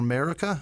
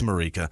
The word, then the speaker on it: Marika: Marika Sand or Marica. It may be Marica. I know people did pronounce it like that. It's 2 Ks, though, in Marika. It's Marika. Marika Sand.